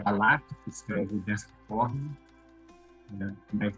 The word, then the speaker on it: בָּלָק: estamos a palavra raiz também se pronuncia praticamente Balak, só que sem um acento agudo na segunda sílaba, né? Não é, é uma palavra, mas também é o nome do rei Moabita, Balak, na Bíblia.